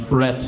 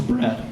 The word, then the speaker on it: Brad: so like Chris said my name is Brad but often times when I introduce myself to people think that I'm saying my name's Brett and I don't know